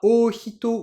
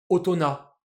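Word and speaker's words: 大人: aurait le faire logiquement est-ce qu'on prononce ça ohito ou Obito comme on pourrait le faire si jamais le mot existait déjà de base avant la récupération des kanji non en fait on va faire ni l'un ni l'autre parce que les Japonais ont déjà un mot seul qui veut dire adulte qui est de base en purement japonais utona et quand ils ont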